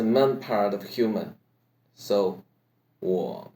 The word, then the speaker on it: 我: 我们我 is what part in the word war. What in third tone by adding some hoarse voice.